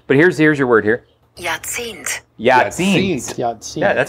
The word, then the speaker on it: Jahrzehnt: Jahrzehnt. Jahrzehnt. Yeah, that sounds so much better. Yep. J-A-R. Jahrzehnt. J-A-R-Z-E-H-N-T. Which is pronounced Jahrzehnt.